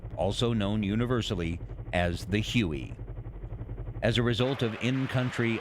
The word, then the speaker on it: Huey: The helicopter quickly developed a nickname derived from its designation of HU-1, which came to be pronounced as Huey.